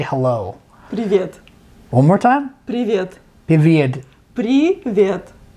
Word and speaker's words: Привет: Привет. One more time? Привет. Привет. Привет. Привет. So good. It's the tongue. You gotta roll the tongue.